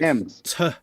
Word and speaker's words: Thames: So it's Thames.